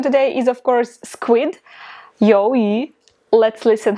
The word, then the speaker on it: 鱿鱼: 鱿鱼. Let's listen how natives pronounce it. 鱿鱼.